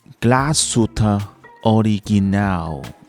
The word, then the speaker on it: Glashütte Original: internet, it's pretty easy to find the correct pronunciation anyway. The correct way to say it is actually like this: Glashütte Original.